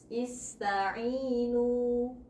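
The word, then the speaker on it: اسْتَعِينُوا: Berarti harokat hamzah wasalnya menjadi kasroh. Ista'inu. Jadi bacanya ista'inu.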